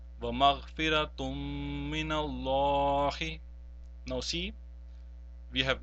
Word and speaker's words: وَمَغْفِرَةٌ مِّنَ اللَّهِ: of all mushaddad, and we will not pronounce the noon sakin or noon tanween. In this case, therefore, the noon tanween will not be pronounced, but the mim mushaddad which is following that will be pronounced and prolonged as well.